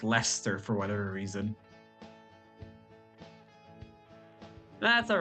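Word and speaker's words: Leicester: to actually pronounce stuff it took me so long to realize that leester was pronounced Lester for whatever reason that's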